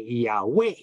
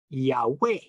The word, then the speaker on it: Yahweh: we believe of course we're not too sure how to pronounce the second half of the syllable in the name of God everyone thinks it is yah which is correct yeah is but we say Yahweh so the emphasis is